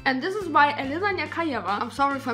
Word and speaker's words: Nechayeva: However, another song that is speculated to do well is Estonia's entry, and this is by ELINA NECHAYEVA. I'm sorry if I mispronounced that, feel free to correct me, and